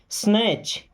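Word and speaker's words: snatch: स्नैच। देखिए यहाँ पे टी साइलेंट है।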